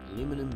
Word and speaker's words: Aluminum: And of course here in Australia we would say aluminium, but because it's a proper noun, I will pronounce it the way it is written.